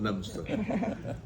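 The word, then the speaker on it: Leominster: have heard of it they think it's spelled Leo Minster but I can tell you he correctly spelled lemster and I think as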